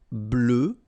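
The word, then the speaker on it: bleue: Bleu, bleu. So same thing that we had for noir, you just add this E at the end, but then you don't pronounce it.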